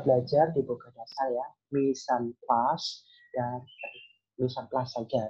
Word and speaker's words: mise en place: Kalian sudah tahu ya, mise en place itu adalah berasal dari bahasa Prancis atau French pronunciation is mise en place.